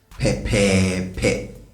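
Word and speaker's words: pɛpɛɛpɛ: And this pepepe has 3 parts, okay? 3 syllables. Pepepe. Pepepe. It's important you get this because if you make it 2, you have pepe, and pepe means stingy.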